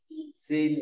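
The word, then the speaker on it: 心: Ví dụ ra có chữ này thì đọc là gì ạ? Xin, đúng rồi.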